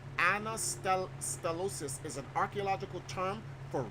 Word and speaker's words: anastylosis: Pronounce that word for me. That's the word. It's called Anastylosis.